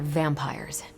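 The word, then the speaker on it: vampyres: The new breed I'm tracking are, they're vampires. I see. No, I do not. You already said they were vampires. Vampires with a Y? Pronounced exactly the same as vampires.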